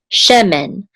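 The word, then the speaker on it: שמן: is the accent mark, so the accent is on the first syllable, she. This is a mem with a segol, and then a nun sofit here. Together we'll say men, shemen, which means oil, shemen, oil.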